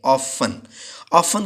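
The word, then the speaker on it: often: ऑफन का मतलब होता है अक्सर, इसमें टी साइलेंट होता है।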